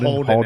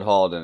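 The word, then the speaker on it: Haldon: I've said Holden every time, but it's an A. That is my fault. Every time I said Harlan, put Halden in. Half Maester. I replaced the A with the O, so I've said it wrong too, but...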